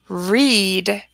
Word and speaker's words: read: a tricky one because the spelling of the word stays the same but the pronunciation changes read and then it sounds like the color red read read read what